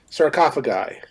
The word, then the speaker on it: sarcophagi: that word wrong alex how do you pronounce that sarcophagus i think it's the plural of sarco sarcophagi sarcophagus thank you sir beneath the the